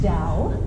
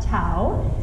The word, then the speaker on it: Dao: it's called the of college and that is pronounced down not Tao even though I will use the D as